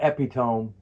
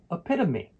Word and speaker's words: epitome: It has four syllables. And the stress is on the second syllable, epitome, epitome.